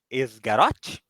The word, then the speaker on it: Esgaroth: grupo de anão chega na cidade do Lago esgaroth seria assim a pronúncia sim quando ele chegou na cidade do